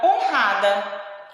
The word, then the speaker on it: honrada: Outro exemplo é a palavra honrada. Honrada se escreve com H, mas nós escutamos o som do O, tá?